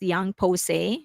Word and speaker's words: YOUNG POSSE: So uh the name of the girl group is pronounced Young Pose.